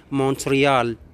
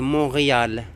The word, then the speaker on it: Montréal: C'est en anglais, bien sûr, on le prononce Montréal. Montréal. Mais en français, c'est Montréal. On ne prononce pas le T.